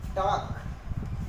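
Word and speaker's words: talk: जैसे कि टॉक, टॉक, ए के बाद एल आया।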